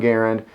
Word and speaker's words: Garand: French-Canadian inventor of the M1 Garand, John Garand. Last name is pronounced Garand, and a lot of people refer to this rifle as the M1 Garand. It's pronounced Garand, much like the word errand.